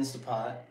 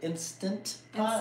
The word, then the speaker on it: Instant Pot: So she's putting in an Instapot, and I don't I have know. a question. Is it Instant Pot Instant. or Instapot? Instant. Instant Pot.